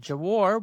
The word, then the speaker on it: Gwar: Gwar is a heavy metal band from Richmond, Virginia. Just in case I mispronounced, it's G W A R.